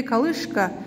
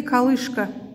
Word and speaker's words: колышка: Три колышка. Ударение падает на букву О.